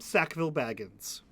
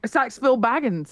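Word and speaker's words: Sackville-Baggins: I think what I'm trying to say his name is his name is Rogerim Sackville Baggins. That's yes, I have that. Not Saxville Baggins is.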